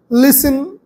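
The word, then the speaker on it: listen: হচ্ছে naming word Singh লিসেন এল আই এস টি এন লিসেন টি এর উচ্চারণ হয় না টি এর উচ্চারণ সাইলেন্ট থাকে লিসেন সিং লিসেন কল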